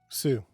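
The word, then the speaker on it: Sioux: do you spell or how do you say s s-i-o-u-x sue oh soup yeah there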